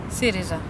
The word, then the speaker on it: Syriza: Syriza.